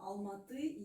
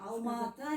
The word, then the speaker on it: Алматы: Нет, там переводится алма — это яблоко, алматы — яблоневый. Ну, Алма-Ата. Алма-Ата — это русское произношение. Алматы.